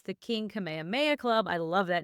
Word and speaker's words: Kamehameha: Also, as an avid Dragon Ball fan, I always pronounce that Kamehameha, but I'm now thinking that perhaps what you said sounded more authentic No. Polynesian. No, so, it's Kamehameha. I'm positive on that one. It's Kamehameha.